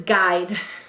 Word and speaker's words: guide: The next word is guide. My GPS will guide me. Go ahead and say guide. Let's sound it out together. G. Do you notice this? It's a G spelled with 2 letters.